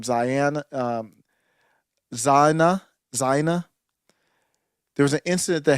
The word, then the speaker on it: Zyahna: So the incident that happened here with, how do you pronounce the name? Zyahna.